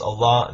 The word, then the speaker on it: Allah: And in Arabic it's pronounced Allah, that it means God, no different.